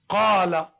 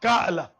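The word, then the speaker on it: قال: Qala. Not ka'la. It's not Hamza. It's alif. Qala.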